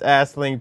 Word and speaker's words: Aisling: Put it together, and that's Aisling. Aisling. No, G. The G is silent.